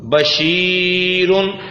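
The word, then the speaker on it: بَشِيرٌ: با زبر با، شین یا زیر شی، بشی، را دو پیشرن، بشیرن.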